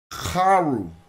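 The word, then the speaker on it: Kharu: you to note that Syria was not how you said this in ancient Egyptian. In ancient Egyptian, you pronounce this Karu.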